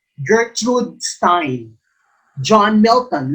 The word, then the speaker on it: Gertrude: By the way, it's pronounced Gertrude. Gertrude, not Gertrude.